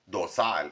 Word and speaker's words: Dosal: It's actually we like as a Mexican person we like to say do but my last name is pronounced dozel. Sometimes people say do it's not do as my theo vito would say it's not dozel. It is dosal or my uncleto dosal. My last name is dosal.